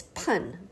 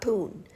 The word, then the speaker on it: pun: It's pun, by the way, not poon.